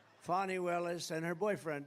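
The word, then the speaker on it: Fani: right has anybody fonny it's pronounced fonnie F A ni I that's Fanny but she likes it fonnie when she became the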